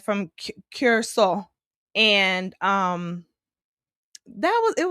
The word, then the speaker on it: Curaçao: So, Soul Beach Music Fest over in Curaçao. That's how the locals pronounce it.